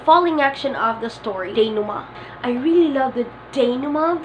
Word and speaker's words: denouement: pronunciation of this is denouement. Denouement. Or denouement. denouement. You could somehow hear letter N, denouement. But most of the times, denouement is used. Denouement. The falling action of the story, denouement.